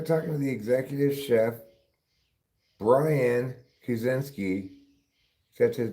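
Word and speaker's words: Brien: So, yeah, they're talking to the executive chef Brian Kusinski. Except his name Brian is spelled B R I E N. That's not how you spell Brian. That's how you pronounce Brian, but not how you say how you spell it.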